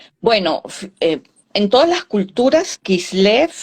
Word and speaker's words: Kislev: Sí, ¿Se pronuncia? Kislev.